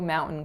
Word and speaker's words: mountain: grew up saying mountain so as you can hear in the American Way there's an N followed by a glottal stop Mount hmm and the Canadian way the T is released so if I had